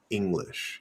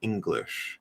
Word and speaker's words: English: your tongue so um if you say english english english you can say the word without any english english english that's perfectly good nice clear way to say the word uh but what you'll commonly hear is english english and there's in